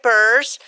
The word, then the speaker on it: Burse: So I have joining me right now is Trooper Eric Burse from the Texas Highway Patrol, correct?